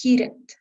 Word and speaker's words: heated: It's heated.